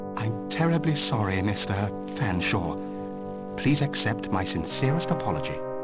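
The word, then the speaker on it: Featherstonehaugh: drink then what ex excuse me Mr Featherstone Hall I presume I can't believe it no canha I don't believe you cannot pronounce my name properly it's fansa but it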